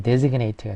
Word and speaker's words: designate: 설계나 디자인이 되겠고 디자이너 하면은 사람이 되겠고 desgnate 이때는 발음이 이제 designate가 되죠.